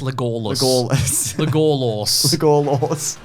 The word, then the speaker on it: Legolas: It's pronounced Legolas.